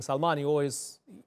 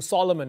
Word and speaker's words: Salman: And, you know, whenever he mentions King Salman, he pronounces it King Solomon as well, which is a little interesting little quirk of it as well.